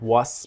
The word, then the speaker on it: was: And the W-A-S, it's like a Z, the was. Not was, but was.